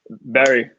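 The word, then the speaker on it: Bury: do you miss about Burry? Is it pronounced Burry or Berry? Berry. Yeah. Berry.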